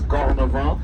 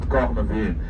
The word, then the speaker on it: Cornavin: Please do not word ending with I and N. Pronounce it instead of in. So this is the reason why it is Cornavant and not Cornavin.